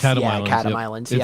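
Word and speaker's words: Chatham Islands: catam catam islands yep I believe it's cam Islands it's a it's the CH makes a k and the th makes a d okay and as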